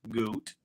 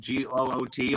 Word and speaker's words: Goot: Man, if you don't know who I am, my name is Goot, and it's spelled Goot, almost like the boot.